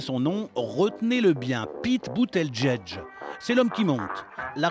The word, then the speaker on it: Buttigieg: Boot, edge, edge.